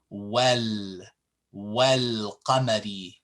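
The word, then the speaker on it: والقمر: So what you do is you pronounce the wow with the fatha and join it over with this lam with the sukun. So now you would say wal qamari, wal qamari.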